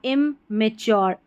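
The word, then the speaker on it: immature: लेकिन इमैच्योर में ऐसा नहीं पढ़ रहे। इमच्योर में इसको टी यू को चर नहीं पढ़ रहे। चोर करके इसका उच्चारण आ रहा है।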